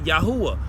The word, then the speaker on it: Yahuwah: the just like the name here is yahuwah right you pronounce that yahuwah and he says oh